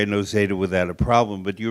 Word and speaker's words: Noseda: we did was we had the audience correctly pronounce his name because now we all can say John Andrea and NOA without a problem but you remember people said NAA and things like that and we had we